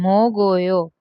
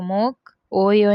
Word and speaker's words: 먹어요: Okay, and मोगोयो, तो मोक ओयो नहीं बोलेंगे, मोगोयो।